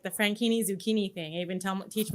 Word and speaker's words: Franchini: your last name it's frankini like zucchini zucchini and i totally would have said francini so i totally enjoyed it that's why that's why i do like the frankini zucchini thing i even